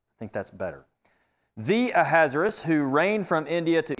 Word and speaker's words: Ahasuerus: "Now it took place in the days of Ahasuerus." I say that, I think, wrong. That's the way I used to pronounce it. I'm going to say it Ahasuerus. I think that's better. "The Ahasuerus, who reigned from India to Ethiopia over 120